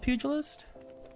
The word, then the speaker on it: pugilist: It's called pugilist?